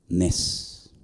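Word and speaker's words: נס: Nes.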